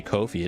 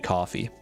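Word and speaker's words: Ko-fi: Support Kai Kid, the mod developer on Kofi. I don't know why I want to say Kofi. It's defin It definitely should just be coffee, but All right.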